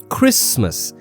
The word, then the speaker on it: Christmas: Also notice in Christmas the T is totally silent. We say Christmas not Christmas. Okay? It's Christmas.